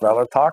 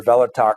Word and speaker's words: Kvelertak: And it's pronounced Kvelertak. You don't pronounce the K, I guess.